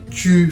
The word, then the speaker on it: tu: It's not tu, Jordan. It's tu. I was saying true.